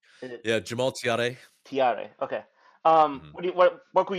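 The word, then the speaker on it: Thiaré: How do you pronounce his name? Is it Yeah, Jamal Tiare.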